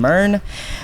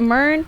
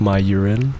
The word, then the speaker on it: MYRN: How do you pronounce it? Is it MYRNE? It's MYRNE, yeah. Okay. MYRNE. Do people say MYRNE a lot? I think the craziest I've ever gotten was like my urine.